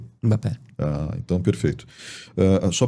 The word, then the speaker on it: Mbappé: E com M seria um. É M seria um. Daí é plural. Tem um jogador famoso e internacional que que é da França, mas tem origens africanas que é o Mbappé. Então seria todo mundo tá falando errado. Então seria Mbappé.